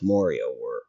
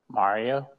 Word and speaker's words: Mario: My wife tells me that I pronounce Mario weird. Mario?